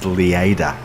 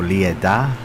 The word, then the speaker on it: Lleida: I would pronounce it as Lleida. Or Lleida.